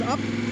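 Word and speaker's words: Å: der Kreuzung nach links ab und fahrt da erstmal ganz runter in den Süden. Ja, und zwar fangen wir da ganz vorne, quasi bei A an. A bzw. O ausgesprochen, ist der südlichste Ort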